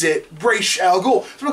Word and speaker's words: Ra's al Ghul: He even says it, Ra's al Ghul. So I'm like, why is everyone else mispronouncing it?